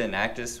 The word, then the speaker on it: Enactus: the name change to an actus which is three syllables in stands for entrepreneurialship